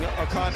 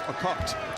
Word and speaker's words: Okot: from Kenya, and so they changed the way we pronounced her name. They wanted us to say it like they do, which is Okot, not Okot.